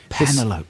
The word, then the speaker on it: Penelope: Penelope Pussycat from Looney Tunes, always pronounced as Penelope. Penelope, that's good.